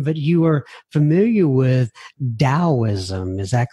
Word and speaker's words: Taoism: you are familiar with Taoism is that correct yes Jian I started studying Taoist alt and it's pronounced with a D but it's actually spelled with a T so as T AO